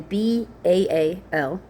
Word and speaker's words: Baal: Um so again B A L which often is pronounced Bale but that's actually pronounced Bal and it really just means Lord.